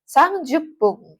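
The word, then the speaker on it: 三十分: jenis cara baca ya 30 menit itu bisa sangju sangju kan 30 ya sangju kalau kelipatan 10 tadi pakainya Pung ya Jadi sangjupung ya sangjupung 30 menit atau bisa juga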